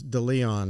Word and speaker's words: DeLeon: I can never pronounce it. I'm horrible at last names. It's DeLeon, the guy that owns Grumpy's.